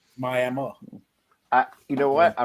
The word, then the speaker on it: Miami: will definitely correct you well there's no e on the end of it either but there's no uh on the end of that it's miami florida but it's miami oklahoma miami i you know what